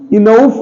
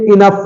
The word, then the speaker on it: enough: Okay, ENOUGH, इनउस, इनउफ नहीं है बल्कि इनफ है, इसमें भी हमारा ओके, ओ के साथ यू आया है, कॉम्बिनेशन में हमेशा ओ साइलेंट हो जाएगा।